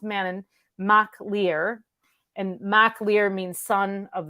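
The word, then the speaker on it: Manannán mac Lir: have to write it mannan is manon it's pronounced man in mach lear and maclear means son of the uh of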